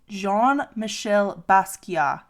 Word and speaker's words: Jean-Michel Basquiat: Next, we have Jean-Michel Basquiat. And I know I pronounced that correctly because I looked it up on YouTube and I practiced it like 25 times before trying to pronounce it.